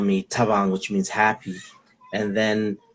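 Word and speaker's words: Thabang: um savannah spelled t-h-a-b-a-n-g so when people pronounced it they'd pronounce it as fabong you know and um i i went back and forth should i change it and at one point it was being pronounced as the bang um that was an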